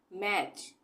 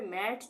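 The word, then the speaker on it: match: पर यही पढ़ा ना टी के बाद सी एच आए तब टी का उच्चारण नहीं होगा तो यहां पर टी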